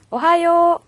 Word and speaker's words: は: 줘 얘는 교사의 요 그래서 와 로 발음이 되는데요 코미 t 라는 말이요